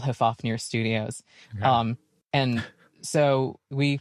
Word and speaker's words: Hofvarpnir: Why on earth is this thing called Hofvarpnir? Okay, so I should spell it out, I guess, for people who want to Google it. It's Hofvarpnir.